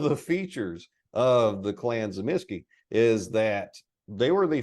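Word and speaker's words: Tzimisce: and I'm a huge fan of I say zamsky because it's spelled exactly like this Noble house from the history of the Byzantine Empire and it was zamsky that's how they pronounced it now I know white wolf messed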